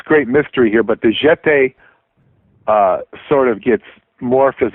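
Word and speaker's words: Getae: basically telling me about the ancient Jete, the jet. call them like the Jets. Jete, spelled with a G.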